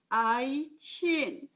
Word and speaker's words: Eichin: how you say my name, Eichin.